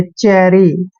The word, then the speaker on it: chary: CH का उच्चारण जब भी हम करते हैं तो चे करते हैं, और ए को ए की मात्रा पढ़ते हैं, RY को री पढ़ेंगे, चेरी। चेरी क्या होता है?